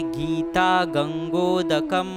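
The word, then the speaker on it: गीता गंगोदकम्: तो अब यहाँ पे 3 शब्द है, जब इनकी संधि हो जाएगी तब हम कहेंगे गीता गंगोदकम पीत्वा पुनर्जन्म न विद्यते।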